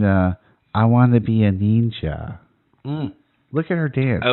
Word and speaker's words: Neenja: So when she says Neenja, she's pronouncing the I as an E.